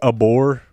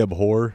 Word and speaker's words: abhor: of words and like you can say abore. Most people say abhore and like actually pronounce the that's what he Okay.